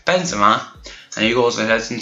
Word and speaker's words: Benzema: two bends yet uh Benzema why am I saying benzia Benzema and he also has